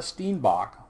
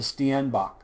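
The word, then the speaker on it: steenbok: is the Sten St this is not a Steinbach which is how I pronounced it before I got there it's a stanach and you can see how small it is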